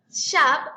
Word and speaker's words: shop: Reading Horizons Elevate de por qué esta palabra es shop y no show. No es O, sino A. Recordemos que O en sonido corto o como se le conoce en inglés, short vowel is A.